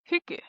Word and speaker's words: Hygge: Um, well, it's funny that you say like a cozy kind of evening because how do you pronounce Hygge? Hygge.